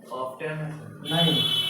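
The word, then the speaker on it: often: हाउ ऑफेन हाउ ऑफेन ऑफ नहीं और हाउ और how frequently N free क्वली an action is done. An action is done. अब देखिए इसमें हम ऑफेन टी साइलेंट कहते हैं इसको।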